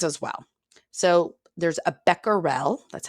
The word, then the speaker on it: becquerel: there's other things as well so there's a becquerel that's how you pronounce it it's the unit that we use